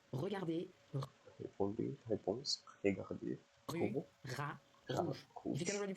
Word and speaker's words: rat: Rat. A rat. Rue is exactly the same as in English, but you do not pronounce the final T.